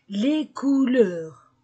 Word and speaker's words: couleurs: prononce pas le S je ne prononce pas le S je prononce le les les couleurs le Livre vert vert